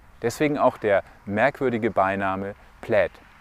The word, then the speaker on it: Plaid: auch der merkwürdige Beiname plädt plate ist Englisch bedeutet zu viel wie Caro Muster und wird tatsächlich plätt ausgesprochen der Name kommt aus